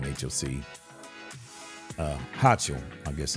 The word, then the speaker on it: Hochul: Governor Kathy Hochul, I guess that's how you pronounce her name, H-O-C. Hochul, I guess it's Hochul.